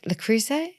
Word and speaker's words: Le Creuset: Lloyd which is where we met pipe Drive lrus am I saying it right yes but ALS